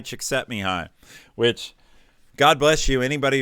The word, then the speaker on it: Csikszentmihalyi: I think it's Hungarian, and it ends up being pronounced something like Mihai Csikszentmihalyi, which, God bless you, anybody who can spell that.